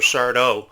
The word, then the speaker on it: Sardo: Sardo from Are You Afraid of the Dark? Accent on the dough.